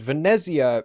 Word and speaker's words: Venezia: I made my trade Venezia being the Italian way of pronouncing uh Venice the Italian way of pronouncing Venice yeah uh it's Northern